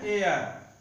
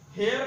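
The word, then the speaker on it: heir: इसी प्रकार एन एयर, एच ई आई आर, एयर means होता है उत्तराधिकारी। अब यहां एच ई आई आर एयर, हेयर नहीं, एयर, एयर, एयर का मतलब पहला अक्षर ए आया अर्थात स्वर आया, हिंदी का स्वर, इसलिए एन एयर।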